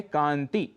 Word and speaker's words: कांति: कांति, शुद्ध उच्चारण है कांति, पर अक्सर कांति ऐसा कह देते हैं।